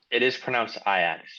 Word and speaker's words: Ajax: And then Ajax, who I don't know much about, but I know that they are in the it is Dutch. pronounced Ajax, just by the way. I like Ajax better, but Ajax That's fine.